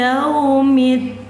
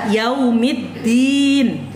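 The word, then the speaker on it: يَوْمِ الدِّينِ: Maliki yaumiddin. Jadi middin itu tak boleh bacanya middin. Kalau dadidu, di dada, garuda, telur dadar, itu danya, d-nya Indonesia betul. Tapi kalau Quran salah. Dalnya harus cadel.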